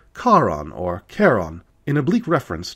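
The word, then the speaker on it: Charon: delivered to this day many American astronomers still pronounced the Moon's name shaon rather than the more correct Kon or Kon in oblique reference to this tale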